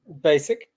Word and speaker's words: Bachik: I know you're look when you see this name you're gonna be like that's not basic but I'm telling you I didn't pronounce this wrong all right Brandon you